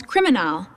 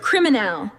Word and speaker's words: criminal: You just had to shift the musical stress of your voice to the final syllable. Anime-L, criminal, central.